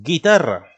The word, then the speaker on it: guitarra: 1 se pronuncia y tenemos guitarra de acuerdo la guitarra un instrumento de cuerda pero también no tiene diéresis no se pronuncia porque no queremos que